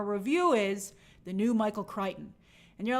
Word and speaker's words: Crichton: Now, it's a book called Influx by Daniel Suarez, and the quote on that cover from a review is, "The new Michael Crichton."